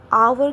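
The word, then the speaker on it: hour: आवर कैसे बोल रही हूं? ओ बोल रही हूं। ओ इज़ a vowel. As silent हो जा रहा है इसलिए एन बैठेगा।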